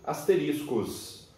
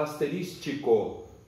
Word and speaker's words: asterisco: Então, eu represento por 4 asteriscos. Tem gente que fala asterístico. Não existe a palavra asterístico. No dicionário, a palavra é asterisco.